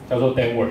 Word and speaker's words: Denward: 了这个品牌，叫做 Denver，这是我们的 logo，很多人会念成 Denwa 或是各种奇怪的发音，就是。